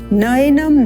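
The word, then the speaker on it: नैनं: द है न नम ये जो ए का स्वर आप देख रहे हैं इसको हम ए इस प्रकार से ना बोले यह है नम अ स्वर तथा ए स्वर युक्त होकर बनता है ऐ का स्वर नयनम न एनम छिंदंति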